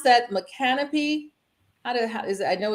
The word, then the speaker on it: Micanopy: to the name correctly sure sure so it's a Mickey nope it will be Florida so micanopy wineries a fifth generation uh farmer black farmer